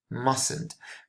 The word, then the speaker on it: must: But here in the positive, must. Okay, here you really need to make an effort and pronounce the last consonant, the last T.